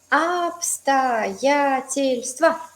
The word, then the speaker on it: обстоятельства: Обстоятельства. También una buena palabra, súper útil. Circunstancia. ¿Sí? En plural va a ser A al final, pero se pronuncia de la misma manera.